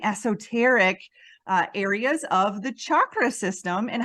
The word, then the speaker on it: chakra: is it chakra or is it chakra I personally prefer chakra and rolling the r but I don't do that very often because it's difficult for my American tongue but I like to